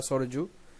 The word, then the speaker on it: সরয়ু: So এটা হয়ে যাবে সরয়ু, সরয়ু বা সরজু, তোমার বাংলায় হচ্ছে সরয়ু, সরয়ু করবে উচ্চারণ ওয়াইটা।